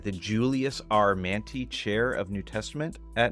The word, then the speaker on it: Mantey: me if I pronounce this right the Julius our man chair of New Testament at Northern Seminary yes Julius manty was a Greek scholar wrote a famous book